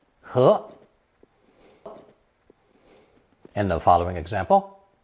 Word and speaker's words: 盒: one for a box, pronounced second tone, 和, 和.